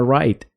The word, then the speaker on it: write: En lugar de pronunciarla como write con un sonido claro de la W, debemos enfocarnos en pronunciar claramente la R y omitir la W, resultando en algo más cercano a write.